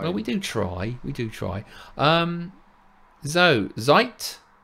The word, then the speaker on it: Zeit: Zeit. Have I said that right? Zeit, yeah, time. German for time.